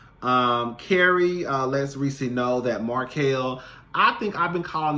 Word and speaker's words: Markel: thought that I was saying the name correctly because I was saying Martell. And then she said, I've been saying Markel this whole time. And I was like, girl, well, maybe you actually been saying it right. And come to find out, she actually has, because in the opening credits, his name has Markel.